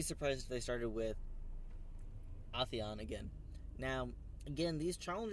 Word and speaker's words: Atheon: crota with new mechanics we've seen authion ISO say it's Atheon it's always funny whenever you finally hear an actor pronounce it the way the studio has always pronounced it and you go but that's totally not how we've been saying it in any case we've